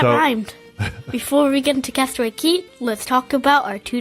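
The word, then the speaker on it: Castaway Cay: go to yeah and it is castaway key even though it is spelled CA Y K before we get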